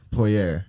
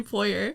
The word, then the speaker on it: Poyar: And then today we have Poyar. Is that how you spell it? Is that how you pronounce it? Poyar. Poyar. I love how hard you pronounce that. Poyar. Like it's French.